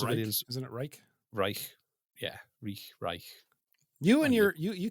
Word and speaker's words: Reich: Reich. Yeah, Reich. You and you can't pronounce anything to do with Nazis, man.